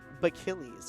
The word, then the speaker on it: Bachillies: It is Bachillies, everyone. So I've been mispronouncing it, but I will get the correct pronunciation from now on.